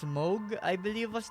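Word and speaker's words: Mohg: in elen ring it's Moog I believe what the way you pronounce it just spending of his name is like m o g h something like mog moog however you want to say it but yeah you need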